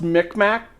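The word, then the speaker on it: Mi'kmaq: It's pronounced Micmac.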